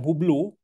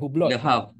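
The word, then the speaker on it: Hublot: ni pelik sikit e macam hublo t Tu silent kan hu b l o t bukan hubblot the ni H ni silent H silent tak dengar AV ni AV la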